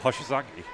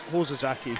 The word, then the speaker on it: Hoshizaki: So Hoshizaki? Yeah, I think I said Hosazaki, so I was Close enough. yeah, it was. I used a hard O instead of a soft O.